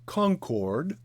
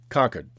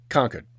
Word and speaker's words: Concord: city is not pronounced Concord it is pronounced Concord conquered it's not hard just leave out the RS just conquer right now